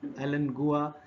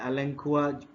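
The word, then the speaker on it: Alan Gua: फिर इस लेडी ने एलेंगुआ, जिसका नाम एलेंगुआ या एलेंकुआ, जो भी आप इसको पुकारें, प्रोनाउंस करें, इन तीरों को एक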